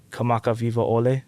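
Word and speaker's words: Kamakawiwoʻole: Kamaka Vivo Ole.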